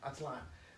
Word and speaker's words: Aztlán: beware atlan very important aztl accent on the a-n atlan what is that slime